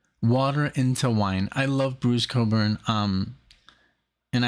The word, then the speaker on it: Bruce Cockburn: into wine I love Bruce Coburn um and I love that I can pronounce his name properly even though it's spelled totally different um I even showed